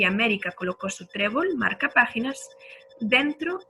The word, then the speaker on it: América: América es una palabra esdrújula y las esdrújulas se acentúan siempre.